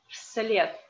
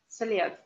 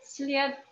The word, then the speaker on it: вслед: Вслед. Not вслед, but вслед. And this D in the end of the word should be pronounced like T, because in the end of the word D is changing to T, вслед.